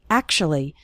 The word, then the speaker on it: actually: pronunciation of the word actually we don't say act or something like that we say actually is actually then we